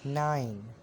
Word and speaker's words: nein: And if you want to say no, you will say nine, similar as English letter 9.